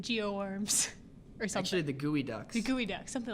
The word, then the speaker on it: geoduck: they are the geo arms are essentially the gooey duck see gooey duck something like it's spelled to candy it's bilge EOG ducts so